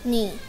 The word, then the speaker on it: knee: Knee. Which letter is silent letter? K.